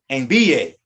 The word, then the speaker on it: envíe: All we're doing here is knowing that the I or the U takes an accent mark in the subjunctive, which will change the pronunciation.